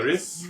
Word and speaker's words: Gris: Is that how you pronounce that? Gris. Oh, yes. Gris.